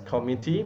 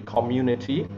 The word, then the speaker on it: community: a long syllable hit community i heard someone mispronounce it as committee maybe you're too fast okay you skid through the wood and it should be community broccoli i've heard someone mispronounce it as broccoli